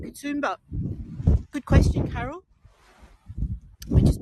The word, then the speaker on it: Katoomba: And it's more like kadum kumba or kadumba, but we call it katumba.